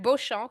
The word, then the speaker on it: Beauchamp: It was a long trip, and we will begin now with our keynote speaker, Beauchamp, who is a senior, I pronounce it very French way, who is a senior